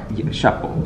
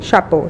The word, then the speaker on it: Chapeau: I don't want to butcher the name. It's boat. It's boat. Chapeau. Chapeau.